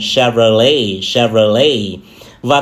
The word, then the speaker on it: Chevrolet: Thì từ này có hai cách đọc. Một là nhấn âm tiết đầu tiên, Chevrolet, Chevrolet. Hai là nhấn âm tiết cuối cùng, Chevrolet, Chevrolet. Và thương hiệu thứ 7 là thương hiệu này.